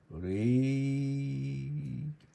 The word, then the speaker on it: Rayleigh: Rayleigh... Tanta letra para pouca pronúncia.